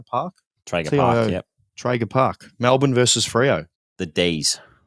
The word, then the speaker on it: Traeger Park: Traeger Park.